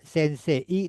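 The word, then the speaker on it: 先生: Minasang coba untuk sense dibacanya tidak sensei, tapi ikuti saya sense sense. Jadi eya jadi ei-nya jadi dua ya. E-nya dua.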